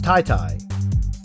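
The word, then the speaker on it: Tete: So he said to me on Twitter, he said you have to pronounce it like T-I-T-I. Tai-Tai? Oh, is it Tai-Tai? T-I is Thai, so it's Tai-Tai.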